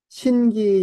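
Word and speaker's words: 神祇: 가라건데 기 가라건데 신기 요거는 이제 보통 하늘의 신을 신 땅의 신을 기 또는 지라고 읽어요. 신기 그러면은 하늘과 땅의 신 말하는 겁니다.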